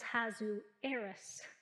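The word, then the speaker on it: Ahasuerus: i'm referring to and i did look up the pronunciation on this name is hazu heiress and he was a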